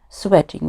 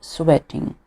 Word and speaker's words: sweating: Sweating, we should pronounce this word sweating, not sweating. These are different words.